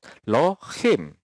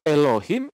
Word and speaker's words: Elohim: Nah, kata L ini justru dihilangkan sama dia, jadi dia sebut dengan Lohim, ya, Lohim.